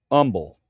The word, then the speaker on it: Humble: Uh, we were moving from um San Antonio to uh Umble, Umble, Texas. Humble. If you're from there, it's called Umble, though. It's spelled Humble. And I'll never forget, man, we had our pitbull Zena in the back seat.